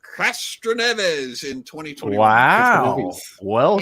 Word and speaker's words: Castroneves: What was the average speed of the race of winner Helio Castroneves in 2021?